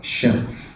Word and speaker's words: Shulph: If I mind the spelling, it's actually pronounced Shulph, as in bookshelf.